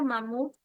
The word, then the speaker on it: mamut: La palabra mamut es una palabra aguda. ¿Ya? ¿Por qué? Porque se acentúa en la última sílaba.